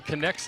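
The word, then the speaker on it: Knecht: ball to second a connect by the way connects name is spelled KN e CH T but pronounced connect and here's a replay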